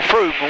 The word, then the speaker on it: Frome: According to my book of words, that's Frome, or Froome, which is how we pronounce it, isn't it?